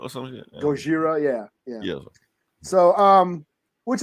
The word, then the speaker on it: Gojira: leader yeah but don't Japanese also say like Gojira or something Gojira yeah yeah so um which is funny I